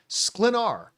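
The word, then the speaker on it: Sklenar: Fans have noted that David Kornsweet started following, and I finally learned how to say his last name, Brandon Slenar.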